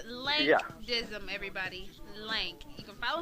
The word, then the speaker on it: Lank Dizzim: with the air we were talking about the pronunciation of your name it's link dim everybody link you can follow him on Twitter